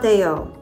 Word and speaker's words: ADO: land just look for the Ado kiosk or as it's pronounced in Spanish AO or eventually their booth